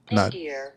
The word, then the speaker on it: nadir: Nadier. Nadier. Nater. Nadier.